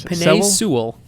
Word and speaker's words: Penei Sewell: So, Seawell is also what you might call a unicorn. Sorry. Hey. Sorry, how do you pronounce it, What? Bryce? Penei Sewell.